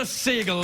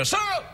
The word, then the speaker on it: Sagal: It's spelled S-A-G-A-L. It's spelled like Katie Sagal. Very much like Katie Sagal.